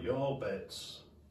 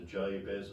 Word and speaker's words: Jabez: and he looked at the Hebrew and said it in Hebrew, he'd be saying something like, Yarbets. And our English transliteration sort of brings it down to Jabez or Jabez, however you want to pronounce it.